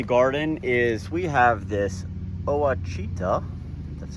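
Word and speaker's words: Ouachita: All right, and then one last thing I wanted to show you out here in the garden is we have this Oachita, that's how you say it, thornless blackberry from Stark Brothers.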